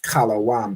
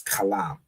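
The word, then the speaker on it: חלם: The oppressor will show it as kalawam because he added this y in here to make an O sound. So like you'll see here, he pronounced it as kalom, but really, it's kalam.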